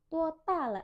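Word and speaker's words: 多大: Jangan lupa D semuanya bacanya T tanpa udara dan nadanya 1 total.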